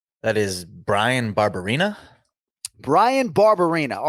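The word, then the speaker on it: Barberena: are we speaking that is brian barbarina brian barbarina all right let's brian barbarina brian barbarina brian barbarina yeah brian barbarina not all athletes are as good a sport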